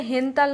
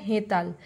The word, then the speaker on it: হেতাল: আচ্ছা, এইটা হচ্ছে হেনতাল নয়, এটা হবে হেতাল। ঠিক আছে, বাংলায় বানানটা হয় হয় চন্দ্রবিন্দু একা তো একা ল, এই যে চন্দ্রবিন্দুর জন্য এনটা বসেছে। ঠিক আছে, এইচ এর পরে এন বসেছে, তাহলে এটা হলো হেতাল।